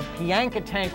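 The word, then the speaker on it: Piankatank: Two fine croer caught on the Pianka Tank River. Did I pronounce that right? Yes, you did.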